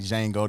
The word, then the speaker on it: Django: The L is silent like Django. The J is silent.